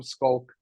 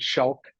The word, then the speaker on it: Schalk: Hi, I'm Schalk, or they couldn't pronounce Schalk. They said Schalk.